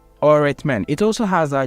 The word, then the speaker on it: öğretmen: So you're not going to pronounce the G. There are other words which we call, let's say, öğretmen. öğretmen.